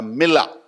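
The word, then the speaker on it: milah: It's called a millah. Say it with me, M-I-L-A-H, millah. Okay? தப்பா pronounce பண்ணாலும் பரவாயில்ல, ஏன்னா நம்ம வார்த்தை இல்லை தானே.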